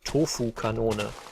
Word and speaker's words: Tofu-Kanone: So my channel name is German, and the German pronunciation is Tofu-Kanone, which I'm not expecting anyone to pronounce that correctly.